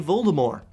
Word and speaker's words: Voldemort: that in the films, they do not pronounce the T in his name. They say Voldemort.